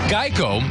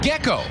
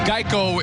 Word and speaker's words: Geico: gecko trivia for you Geico was often mispronounced gecko and that's how the popular lizard was created also those first Geico